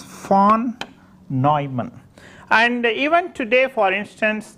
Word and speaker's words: von Neumann: In fact, this is a German name, so you have to pronounce as von Neumann.